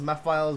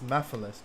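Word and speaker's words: Mephiles: All these years later and people can't pronounce his name right. Damn, it's Meiles. Me files, bro. What? That's Mephilus, dog.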